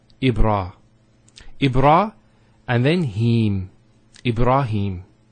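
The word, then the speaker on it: إبراهيم: Ibrahim. Here the ha has a kasra, followed by the ya. So here there's an elongation of the E sound. It's he. Him. Ibrahim. Similarly, here we have Kareem.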